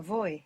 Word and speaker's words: voy: to speak vo vobl think of to go on a voyage ah voy good yes now I'm